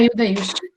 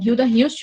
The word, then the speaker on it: Hilda Hilst: gente tem a pronúncia, alguns podem falar Hilda por conta dessa questão do H, né? Hilda Hilst ou Hilda Hilst, então vai depender muito da pronúncia aqui do nome dessa autora.